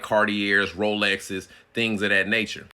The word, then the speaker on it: Cartier: They're like, "Oh, you ain't saying it right. It's Cartier." I'm not. I'm not changing my lip motion and all these syllables and these antonyms and synonyms to say a word. It's Cartier to me.